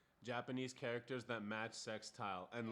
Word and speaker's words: Sextile: So yeah, but it's pronounced Sextile.